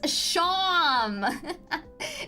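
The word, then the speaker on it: Seam: It's Sham. It's kind of like Sean, but with an M. So I pronounce it Sham.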